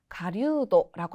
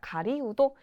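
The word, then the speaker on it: 狩人: 젊은이는 와코우도, 그리고 사냥꾼은 가류도라고 합니다. 물론 이 사냥꾼은 가류도라고 더 많이 읽히나? 라고 하는 경우도 있습니다. 가리우도, 이 네 글자를 맞춰서 여러분들 헷갈리게 하게끔 보기에서 카리우도라고 등장하는 경우도 있으니 이 점 체크하시면 되겠습니다.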